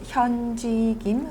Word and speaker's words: 현지 김: Her name is 현지 김, phonetically spelled H-Y-U-N J-Y.